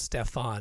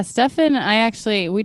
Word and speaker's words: Stefan: Your name is spelt Stefan. It has an A, but he pronounces it Stefan.